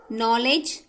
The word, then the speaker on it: knowledge: Knowledge, again K is silent.